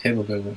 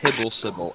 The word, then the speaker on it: Hibblesibble: Jormont Hibblebibble. I don't even know if I said that name right. The correct pronunciation is Hibblesibble, and he will Hibblesibble.